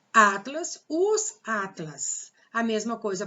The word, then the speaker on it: Atlas: Atlas, qual é a sílaba tônica? O A. Então, Atlas não é oxítona, Atlas é paroxítona.